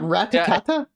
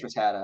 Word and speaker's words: Rattata: It's not Ratatata? Ratatata or something. I thought it's Ratatata. I think it's Rattata. Yeah, I think we all called it Rattata when we were kids. Rattata or something like that.